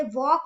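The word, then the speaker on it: walk: भी नहीं बोल रहे वॉक में भी नहीं बोल रहे क्लिम में एल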